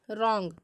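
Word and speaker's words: wrong: तो for example देखिएगा जैसे राइट रंग रिस्ट यहां पर देखिएगा तो डब्लू के बाद आर आ रहा है तो यहां पर डब्लू का उच्चारण नहीं होगा अब देखिएगा अगर किसी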